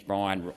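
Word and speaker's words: Bryan: actually the lion so William Jennings Brian rhymes with Lion and the wizard of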